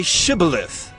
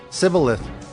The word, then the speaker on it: Shibboleth: When he said, No, they said to him, Then say Shibboleth. And he said, Sibboleth, for he could not pronounce it right.